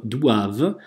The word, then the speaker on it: doivent: В читаем не ф, а в дуав, дуав, о и читается как уа, дуав, депозе, опять же, ент не читаем на конце, естественно, вот это традиционное